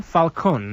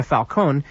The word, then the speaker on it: Falcone: at all Alberto Cecilia Falcone the last name is spelled si si ili a - FAL Co and like Falcon Alberto Cecilia Falcone leader